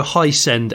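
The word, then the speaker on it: Hiscend: off the the Dynamo it's spelled h i s c ND as in ascending oh right I thought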